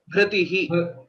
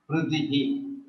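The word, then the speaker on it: भृतिः: Bhritihi. Vritihi. Bha is a Mahaprana. Bhritihi. Vritihi.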